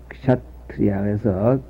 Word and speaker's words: 샤트리아: 그때 인도에는 4가지 종족이 있었는데 부처님은 찰제리, 찰제리는 K자는 묵음자로서 샤트리아에서 K자를 발음하는 듯 많은 듯해서 그냥 샤트리아 이렇게 하는 정도로 하면 되겠습니다.